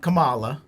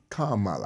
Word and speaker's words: Kamala: show how much um it's not Kamala it's Kamala it's not Camila it's Kama it's Kama Kamala and I'll tell you